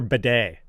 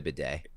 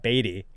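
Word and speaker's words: Badie: It's Tyler Bidet. Like, that thing in a French bathroom that you use to I've heard 70 different ways to say his name, and I'm wrong.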